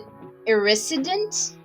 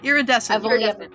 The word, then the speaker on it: iridescent: picked up some uh i think you pronounce it a irresident it's just iridescent iridescent thank you i've